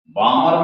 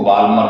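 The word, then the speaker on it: Balmer: रहे हैं बामर सीरीज बामर में एल साइलेंट है इसको वाल्मर मत कह देना हाइड्रोजन स्पेक्ट्रम में इसे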